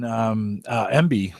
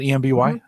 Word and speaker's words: Emby: Drashna is mentioned in MB. Is that how you pronounce it? EMBY? MB? Yes. Yeah. It started out, it was Media Browser as a plugin for Media Center.